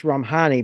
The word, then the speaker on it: Romhany: My father was Hungarian, and so it's Romhany.